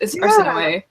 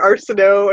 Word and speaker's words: Arsinoe: And after I learned how to pronounce it, I kind of like the way it sounds. I liked Arsinoe. There's also because. Sorry? I like that so much better because I was calling her Arsinoe, and I was like, I don't like this